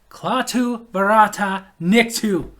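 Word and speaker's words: Klaatu barada nikto: Klaatu Barata Niktu. Yes, you have to say every little syllable.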